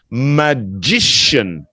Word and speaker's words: magician: about the person that turns into an sh there's no k sound magician magician no there's no K in here it's not magic oops here this is